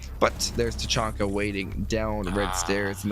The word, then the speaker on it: Tachanka: I know it's Tachanka. Great. I love to hear the official pronunciation, but yeah, or the pronunciations of all the operators around the world.